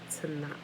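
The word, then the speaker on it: תנ״ך: acronym Tanakh, TNK, or you add the A's in there to pronounce it properly. For those of us who only understand English, TANA. Adding the A's gives you the proper sound of this word, right?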